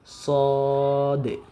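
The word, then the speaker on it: صاد: যাই যাই সিন সিনশিনশিন সদ সদ সদ সদ উচ্চারণের ক্ষেত্রে আমরা যে ভুলটা সাধারণত করে থাকি আমরা পড়ি সয়াদ সয়াদ সয়াদ হবে না বরং সদ সদ হবে সয়াদ এটা হচ্ছে কমন মিস্টেক তো এখানে আমরা সদ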